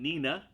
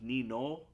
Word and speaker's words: Nino: and she is named nina really her name is pronounced nino uh amongst the georgians uh but obviously in